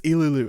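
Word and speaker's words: Ilulu: Same old, except for now a character named Ililu shows up, which people would not stop telling me I was saying her name wrong. It's Ililu, I'm sorry, alright.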